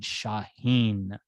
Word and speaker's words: Shaheen: what my name was i said shaheen the way i like to be heard and you did a